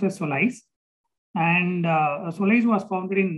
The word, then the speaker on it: SOLIZE: It is pronounced as SOLIZE.